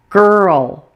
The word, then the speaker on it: girl: the L note that L is also a syllabic l meaning that it forms a syllable by itself so this word will